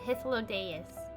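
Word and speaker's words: Hythlodaeus: bureau of the architect that's how you say it hithlodeaus never say it beside me is the most honorable emmett selk of the convocation of 14.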